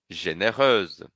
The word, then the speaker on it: généreuse: Généreux, généreuse. Aqui eu pronuncio E no fim, e no feminino eu pronuncio euse.